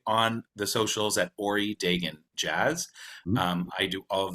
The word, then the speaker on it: Dagan: Dagan? Well, here in Canada, it's Ori Dagan, but Dagan. you know what? It's kind of different anywhere.